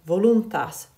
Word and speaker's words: voluntas: u it's short but it's followed by two consonants in and t and that makes it long pie position which means that it will get the accent so it will become voluntas so multiple syllables we